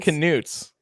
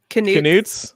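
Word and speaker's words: Knut: I forgot to pronounce canutes. I say nuts. I had to look it up because my mind wants to say nuts.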